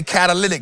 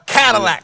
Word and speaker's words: catalytic: Somebody say catalytic. No, I'm from the hood. It's called a Cadillac converter. I ain't never heard that pronounced right.